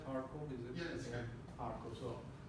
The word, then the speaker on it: Kharkov: Do I pronounce it right? Kharkov, is it? Yes. Yeah. Kharkov.